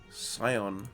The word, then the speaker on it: Scion: Scion.